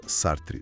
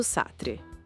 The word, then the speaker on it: Sartre: Sartre se pronuncia Sartre, certo? Isso, Sartre.